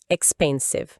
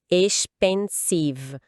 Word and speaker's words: expensive: A sílaba tônica tá no meio, pen. E agora normalmente, expensive. O X aqui volta a soar como KS expensive e o cve no final tem um som de s e depois com o V bem pronunciado.